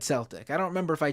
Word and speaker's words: Celtic: It's pronounced Celtic. It's a soft C.